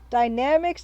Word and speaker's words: Dynamix: Dynamics, that's how it's pronounced by the little guy in the Incredible Machine intro.